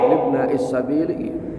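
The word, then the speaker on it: li ibni as-sabil: Wasahmun li ibna is-sabili, libna is-sabili, bacanya libna is-sabili.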